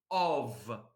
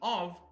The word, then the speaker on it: of: in English for example the letter F can be pronounced the in for example the preposition of so the preposition of is pronounced the the the F letter is pronounced V and look at the